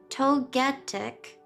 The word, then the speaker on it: Togetic: Togetic because it's gigantic.